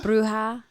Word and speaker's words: bruja: your uh i want to say it right brew how really bruja she's you can call her a bruja okay